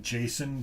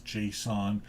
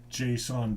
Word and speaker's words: JSON: as far as json i always call it jason but i guess the pronunciation is json and one of the